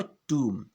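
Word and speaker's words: tomb: तो इसका उच्चारण क्या हुआ, टूम, ना कि टॉम्ब नहीं है ये, जो हम आम बोलचाल में जो ऐसे प्रोनाउंस करते हैं।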